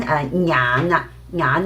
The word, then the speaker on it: 眼: And then 眼啦，眼 means your eyes. So some native also because they omit the NG sound, right? Then they will just pronounce 眼 just like they pronounce 牙 as Okay, so you